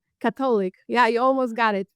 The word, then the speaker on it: Katolik: Cylic. Catholic.